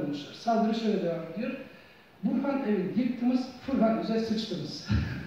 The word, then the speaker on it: Burhan: Bur, Buda'nın Tang dönemi Çincesine ait telaffuzudur. Han da Türkçe kelimedir, Burhan. Bunu Burkan diye de okuyabilirsiniz.